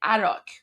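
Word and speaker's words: Arak: They hit the Oaro plant in Arach, which is spelled A R A K.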